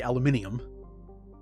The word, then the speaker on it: aluminium: they pronounce it see even says here aluminum that's how it's spelled but I know it supposed to be aluminium yeah still though it's